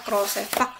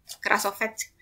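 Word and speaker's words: Krasovec: Klimchuk dan namanya Krolsepak kalau nggak salah. Kita itu bahasanya kayak harusnya bacanya nggak kayak gitu harusnya. Krasovets.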